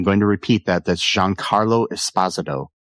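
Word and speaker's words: Giancarlo Esposito: McInley as Davis Rig Lanlow, Jean Carlo Espazado as Charlie Dunt, and I'm going to repeat that. That's Jean Carlo Espazado, not Jean Carlo Espazito as a lot of people want to say, but yeah.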